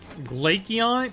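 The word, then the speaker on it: Glaceon: Glacon. It It's an It's like Glacier. He's an ice type. Like Glacier.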